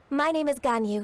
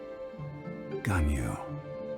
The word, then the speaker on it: Ganyu: Like you're trying to whistle and say the y sound at the same time.